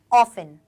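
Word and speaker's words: often: यहां पर भी देखो इसे हम ऑफेंड नहीं पढ़ेंगे इसे हम ऑस्टिन नहीं पढ़ेंगे इसे हम क्या पढ़ेंगे ऑफेन क्या पढ़ेंगे बेटा इसको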